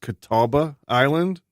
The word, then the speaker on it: Catawba Island: I think it's pronounced Catawba Island, going towards Cleveland.